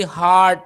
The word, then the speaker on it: heart: Ini bacanya bukan hurt ya, tapi heart.